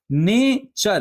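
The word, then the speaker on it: nature: लेकिन हम प्रोनाउंस क्या कर रहे हैं? ने चर कल चर पिक चर फॉर च फॉर चर आप समझ रहे हैं? तो सीएच टी यू लगा के यूज़ हो रहा है।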